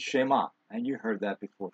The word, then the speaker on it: Shema: i say this quickly you'll hear people say shema but the emphasis is on the last syllable and i would i guess maybe the first part is a uh what should i say a strong vowel but it's shema and